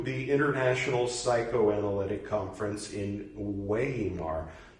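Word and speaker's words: Weimar: international psychoanalytic conference in weymar e-i-e-i e i my name should be pronounced so ymar Y Mar got it okay sorry a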